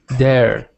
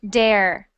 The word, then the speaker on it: there: ring good next one there there there there there I'm hearing dare so try saying that sound again there there so I'm not